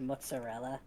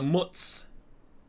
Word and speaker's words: mozzarella: So Gouda People from New Jersey can't pronounce the word mozzarella. Look at the mutz mozzarella. They always My favorite is when they add a D.